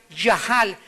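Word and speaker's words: יחל: es la palabra yajal se escribe yachal con ch pero se pronuncia yajal que significa Aunque me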